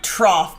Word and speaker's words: trough: Meanwhile, you're stumbling over a word like trough, but I just kid. It doesn't we say have to. rough. It should say... But it rhymes with cough.